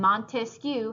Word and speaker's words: Montesquieu: of dividing power and Montesquieu has three syllables just like we have three branches so draw everything right